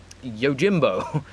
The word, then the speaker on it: Yojimbo: no it's not very it's not meant to be pronounced Jimbo but is yo Jimbo like that's how it's spelt everyone says yo Jimbo I think there's got a very specific pronunciation for it but yeah he's strong